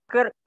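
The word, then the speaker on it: kırk: 40 itu kerk. 40 kerk. Oke, jadi untuk huruf I yang tidak bertitik itu dibaca E. Jadi 40 kerk.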